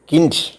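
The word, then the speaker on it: Kind: എന്നാണ് ഉച്ചരിക്കുന്നത് കുട്ടി എന്നുള്ളതിന് when the ആൽഫെറ്റ് ഡി ഈസ് അറ്റ് ദി എൻഡ് ഓഫ് A word it ഹാസ് the sound of ടി for example K ഐ എൻ D kick pronounce കിൻഡ് means boy ഇ എന്ന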